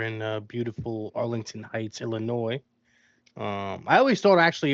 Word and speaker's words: Illinois: And then I recently found out it's Illinois. No S. No S. Well, there is there is an S, but you don't say the S. Yeah. Yeah, a little silent S action.